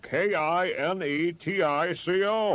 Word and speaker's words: Kinetico: You should have remembered kinetic as in kinetic energy with an O on the end.